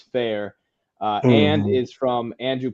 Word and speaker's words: Farr: so that's what the f a r r sometimes called far and Swift but the tricky pronunciation if you're in the in club is fair uh and is from